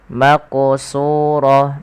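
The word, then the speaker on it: مقصورات: Maqsurah. Maquo maqsu. Suyunya tebal karena huruf shad yaitu huruf isti'la. Hati-hati jangan terbaca dengan huruf sin jangan maqsurah tapi dia menebal.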